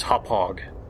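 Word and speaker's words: Hauppauge: have purchased a uh i finally figured out how to pronounce it it's hop hog that's how you pronounce it uh the hd pvr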